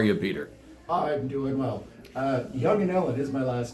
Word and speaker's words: Jongeneelen: So, how is that last name pronounced, Peter? Young and Ellen. Okay. So, Young and Ellen. Now, some folks I know I've known you for years. They they call you a and that is a severe mispronunciation.